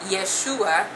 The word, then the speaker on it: Yeshua: Jesus okay now the second sound in yes yeshua's name um it is it's the it's the